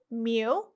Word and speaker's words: mu: it has two parameters mu pronounced like the pokemon and sigma which is